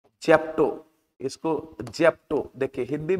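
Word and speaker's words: zepto: उसके बाद जेप्टो है, जेप्टो, इसको जेप्टो देखिए हिंदी में भी लिख देते ताकि आपको पढ़ने में दिक्कत नहीं हो।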